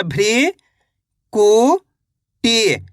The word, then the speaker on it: भृकुटी: श्रृंखला इस तरीके से भ में ऋ की मात्रा भृ कु टी भृकुटी ऋषि मुनि कैसे पढ़ेंगे?